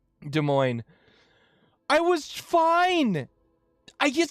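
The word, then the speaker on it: Des Moines: whoop de Moine uh it's spelled D S and then there's a second word and it's m o i n s so it looks like Des Moes or Des Mo but it's De Moine hi W how did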